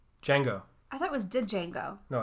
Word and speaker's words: Django: I thought was did Django no it's Django the D is silent they ignore the deshay